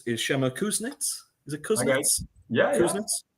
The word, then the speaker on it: Kuznits: Is it Kuznits? Yeah. Kuznits? How do I pronounce that?